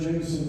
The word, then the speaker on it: Jameson: Now, Pat Cashman read the bit, and he read Rick Jameson. And I went back to him, Pat, this is really important to me. I want Rick Jameson to have 3 syllables. So, it's like Clint Eastwood